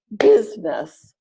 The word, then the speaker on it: business: So all of these words are pronounced aspirin, average, Barbara, business, camera, different, evening, every, family, favorite, federal, general, interest.